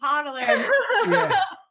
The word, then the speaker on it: hodler: You're saying it wrong. It's hodler.